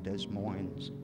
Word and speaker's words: Des Moines: So by July, a pair of twins had sprang from out their loins. Rhymes with Moines.